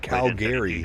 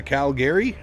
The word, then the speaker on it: Calgary: What the fuck is a Calgary? It's Calgary. Calgary. Calgary. Half the Canadians pronounce it like that.